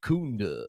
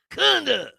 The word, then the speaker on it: Kunda: And it's Kunda. Yeah. It's not an ooh. It's It's like Clever Lang. Come on, Balboa. Kunda.